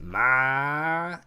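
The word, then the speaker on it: معنى: So the way that man is pronounced is ma-en. Ma-en. So you'll notice that I'm doing kind of the deep guttural throat thing. Ma, and then en.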